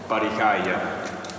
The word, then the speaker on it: barricaia: How do you say it? Barricaia. Barricaia.